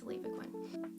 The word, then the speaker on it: Levaquin: it came out and there was a long e sign over Levaquin so just FYI it's Levaquin so those are our